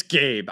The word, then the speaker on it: Gabe: It's Gabe. I didn't know how to phonetically spell Gabe, so it's Gabe.